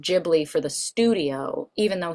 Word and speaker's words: Ghibli: Studio Ghibli, which actually Ghibli being the Italian word for like ship, which is actually pronounced Gibli, but Hyo didn't realize it was pronounced Gibli, so it's pronounced Ghibli for the studio, even